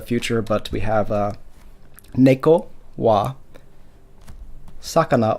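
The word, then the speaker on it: は: And it's similar to, I mentioned in a couple videos back that the subject marker or particle wa is written as ha, but it's pronounced wa.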